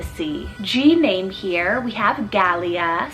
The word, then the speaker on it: Galia: goddess of the sea g-name here we have galia spelt g-a-l-i-a and this one's hebrew rooted meaning